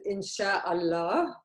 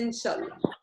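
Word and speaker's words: إن شاء الله: Which means God willing, which is officially it is Insha'Allah. But in Lebanese dialect, we say Inshallah.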